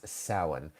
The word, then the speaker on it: Samhain: Correct me if I'm wrong, but isn't it Samhain? So yes, Joey. Joey's asking about Halloween. And Halloween started in Ireland and Scotland and in Celtic traditions many, many years ago. And its original name is Samhain.